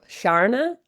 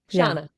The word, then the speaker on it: Sharna: Like when Americans say river or Sharna, I'm just like, okay, here we are. But mine, it's like the R is silent in New Zealand. Shana. I'm like, where's the R? That's not my name.